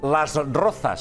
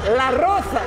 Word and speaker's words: Las Rozas: Las Rozas. A Las Rozas. Sí. I qui era l'amiga de Bisbal? Efectivament, la Roza. La Roza. Ell ho pronunciava així.